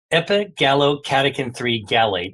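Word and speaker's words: epigallocatechin-3-gallate: I'll pronounce it once, but don't worry about trying to spell it. Epigallocatechin-3 gallate, EGCG.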